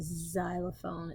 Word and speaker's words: xylophone: beginning so locks box and xylophone makes kind of the Z sound at the beginning of a word why